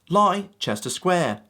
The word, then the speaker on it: Leicester Square: Now moving on, the first one, right here, should be easy to pronounce just looking at it. Leicester Square. That's right. Leicester Square.